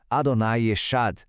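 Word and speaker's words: אדוני אחד: E a terceira, Adonai Echad.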